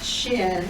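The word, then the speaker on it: שין: The first sound in the written name of the letter is the sound that the letter makes.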